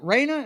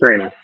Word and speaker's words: Rhaenyra: So this episode, is it Raina? Is that her name? Our blonde girl over here, is that her name? Yeah, it's Raina. Yeah, but she is doing several. Rhaenyra, right?